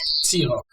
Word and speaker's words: Zierock: So now your name is, not, but Zierock. Zierock. How do you spell that? Zierock. That's a complicated German name. Zierock. Okay, Zierock. Okay, so you guys are all Xerox. Yes. Right, like Xerox.